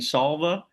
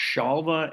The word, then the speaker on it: Śālva: So I think we've got time to go to chapter 76, the battle between Salva. It's actually pronounced Shalva and the Vishnes.